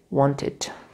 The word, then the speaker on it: wanted: Now, if they are pronounced, so here E is not silent, we pronounce it. For example, we pronounce it wanted.